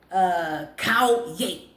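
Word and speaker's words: 烤鸭: Cow yay. It show you how to pronounce it.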